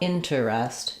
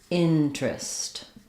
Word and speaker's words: interest: It's not interest, it's interest. So this is a common pattern we do in English where when we have an ER in the middle that's unstressed, sometimes that syllable just drops, and instead of terest, we just get trist, changes to an R blend. So not interest, but interest.